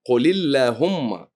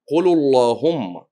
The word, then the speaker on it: اللهم: هو قرأ اللهم بالتفخيم مع أنها تلفظ من دون تفخيم قل اللهم، وهو قال قل اللهم.